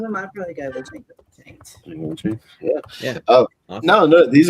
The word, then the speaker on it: Django: The Django Unchained awesome. The D is silent.